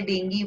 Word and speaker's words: dengue: Dengue fever is caused by the dengue virus. It is pronounced as dengue.